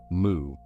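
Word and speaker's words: 無: In Chinese it is written woo pronounced woo. In Japanese it becomes moo.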